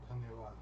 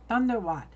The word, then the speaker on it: धन्यवाद: धन्यवाद. Dhanyawad.